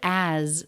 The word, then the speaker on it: as: The word as, this vowel can reduce to the schwa, but I do think I hear it as a pure a. The letter S is pronounced as a Z in this word.